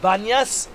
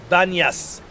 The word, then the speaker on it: Banyas: It's called Panias because for Muslims' time they cannot pronounce the letter P. Instead of P, they say Be, Banyas.